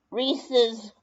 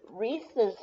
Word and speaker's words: Reese's: it's the same company, so Reese's is probably called Reese's instead of Reese's. Don't pronounce the E's. It's somebody's last name because of the apostrophe, so it's probably Reese's.